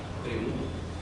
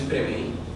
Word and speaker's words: preví: Preví. No es preveí. Hay muchas personas que dicen preveí.